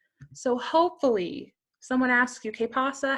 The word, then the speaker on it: qué pasa: And the way to say that in Spanish is ¿Qué pasa? ¿Qué pasa? So you're just going to say K, like the letter K, pasa.